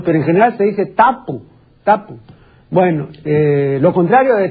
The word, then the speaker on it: tapu: O de tabú, o de tapu, como realmente debiera decir. En la academia, al poner la etimología de tabú, dice, en Polinesia no se dice tabú. No, en Polinesia no se dice tabú. No, la palabra no es aguda en Polinesia. Yo tengo un estudio bastante documentado sobre este término. Y en Polinesia se dice tabu.